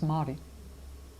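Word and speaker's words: Māori: When you say mi it's very bad. It's it's Mari. Mari. But Mai is the correct pronunciation.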